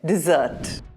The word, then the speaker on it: dessert: Whereas when you're talking about a pudding or a cake, you're emphasizing on the double S, which is actually pronounced as a double Z, dessert.